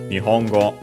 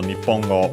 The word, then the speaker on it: 日本語: Nihongo technically also Nipongo but usually Nihongo.